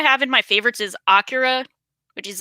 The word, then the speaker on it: Akira: The first pronunciation was right. Yes, Akira.